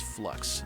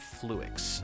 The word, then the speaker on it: fluix: I had to watch a video on some of this stuff and I heard that the creator pronounced it as flux, not fluix.